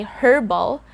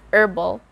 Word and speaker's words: herbal: there's a big difference when we say herbal and when we say herbal one more time herbal herbal so obviously the second one is correct it's herbal and focus on the